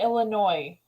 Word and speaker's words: Illinois: yeah I'm from freaking Illinois oh Illinois Illinois some say Illinois yes some say Illinois Illinois yeah no it's a silent s right yeah I've always